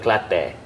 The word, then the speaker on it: Kelantan: Kelantan, they pronounce Kelantan in a different way. How do they say? They call it Klate. Could you Klate?